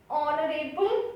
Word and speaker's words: honorable: Next, honorable minister. In honorable h is silent again, so we use article an.